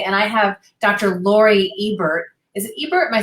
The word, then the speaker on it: Ebert: Lori Ebert. Is it Ebert? Am I saying it correctly? Yeah, Ebert.